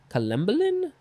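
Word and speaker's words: collembolan: i'll say next is columbolin columbolin yeah colombolin c-o-l-l-e-m-b-o-l-a-n noun from 1873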